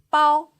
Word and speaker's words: 包: 包波 ao with first tongue, 凹波 ao 包波 ao 包 Please repeat.